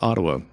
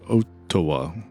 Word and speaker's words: Ottawa: It's like, nope, it's definitely pronounced Ottawa, not OA.